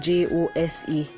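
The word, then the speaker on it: José: be host h-o-s-e but it's pronounced jose h-o-s-e with an accent on the e so you get that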